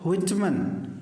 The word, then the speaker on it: Whitman: जैसे wheel word use करते हैं हम, WHEEL। तो व्हिटमन, that is the pronunciation. Actually नाम इनका था वॉल्टर व्हिटमन जूनियर।